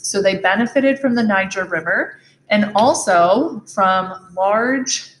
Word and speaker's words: Niger: along the niger river it's important to pronounce that correctly niger river which is here in